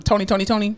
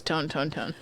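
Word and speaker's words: Tony! Toni! Toné!: you're probably in diapers that's not tone tone it's spelled weird right like all of them are spelled different yes but it's definitely tony tony honey i thought it was tone tone tone please eat her jinzy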